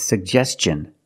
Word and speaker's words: suggestion: cup and up sug we have two G's and we're going to pronounce both of them the first G is a hard G sound sub and the second G is the J sound like juice and jump pronounce both sug Gest suggestion and Tin